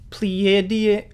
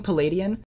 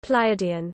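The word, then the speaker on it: Pleiadian: How the Palladians the Ple Pleadian I just forgot how to pronounce this. Was I saying Palladian? Pleadian. Pleadian. Okay.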